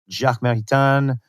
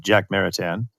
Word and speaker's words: Jacques Maritain: And so I'm thinking of people like Karol Wojtyła, John Paul II, Jacques Maritain, right? That's my French pronunciation of Jacques Maritain.